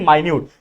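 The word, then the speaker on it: minute: पे एम आई N yeti E माइन्यूट तो एक ये मिनट का मतलब दोनों का स्पेलिंग सेम है लेकिन मतलब अलग-अलग है क्या कि ये मिनट का मतलब होता है जो हमारे घड़ी में मिनट्स होते हैं नाना 1 मिनट में आया 5 मिनट में आया तो वो मिनट मतलब टाइम और ये माइन्यूट स्पेलिंग सेम है लेकिन बोलने का तरीका भी अलग है या फिर मिनट भी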